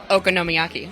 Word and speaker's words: okonomiyaki: I'm even better that I pronounced that correctly. Okonomiyaki.